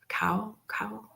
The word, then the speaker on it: caul: Am I pronouncing it correctly? I think it's C-A-U-L. Cow?